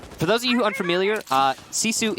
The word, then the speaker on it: GiFu: those of you unfamiliar Sisu is spelled gif view so that's what we're pronouncing right now you know that's